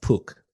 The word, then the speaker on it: Pook: How do you pronounce that? I pronounce it as Pook.